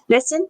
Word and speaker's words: Nissen: talking about Wilma June N I believe or niss how you say her name Nissen okay she uh was born on October 19th